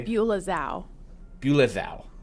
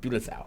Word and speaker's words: Bulezau: Ooh, this is a Beulah Zhao. Bulezau. That's what it is. That's how it's pronounced.